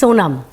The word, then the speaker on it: Sonam: Because I get nervous about pronouncing it wrong. It's Sonam.